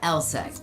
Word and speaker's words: LSEG: Take ours for instance, pronounced LSE, aka London Stock Exchange Group.